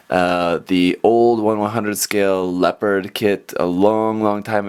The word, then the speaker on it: Leopard: in Katakana actually says leopardo but it's not leopard it's just leopard like the animal H so that's how